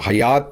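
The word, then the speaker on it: Hyatt: मुस्लिम नाम है तो लोग अक्सर इसे हयात समझते हैं और हयात ही इसे प्रोनाउंस करते हैं।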